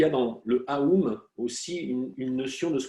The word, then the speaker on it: Aum: Et d'ailleurs, quand on le prononce, on sent bien que le A, il vient vraiment du profond de notre être, le A.